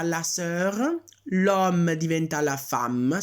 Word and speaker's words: femme: Le frère diventa la sœur, l'homme diventa la femme, si pronuncia femme, attenzione, l'avevamo già visto.